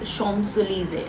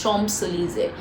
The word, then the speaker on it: Champs-Élysées: I think again I'm pronouncing it properly. It's Champs-Élysées. I think it's Champs-Élysées.